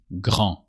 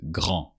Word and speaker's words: grand: So just grand. You don't pronounce the D of grand because you remove the E. So when it's masculine, it's grand.